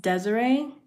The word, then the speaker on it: Dezerae: My name is pronounced Desiree. So, I think like the normal way Desert is spelled like D E S I R E E.